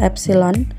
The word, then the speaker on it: epsilon: Kemudian yang berikutnya adalah regangan atau strain, disimbolkan dengan simbol seperti E, itu bacanya adalah epsilon.